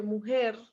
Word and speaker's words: mujer: Es por eso que mujer, aunque es aguda, no lleva acento, pero tiene la pronunciación fuerte en ger.